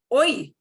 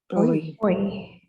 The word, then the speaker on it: hoy: But H by itself makes no sound at all. It is the only truly silent letter in the Spanish language. That happens in French too. But H will be silent. You'll see a word with it, but they won't pronounce it.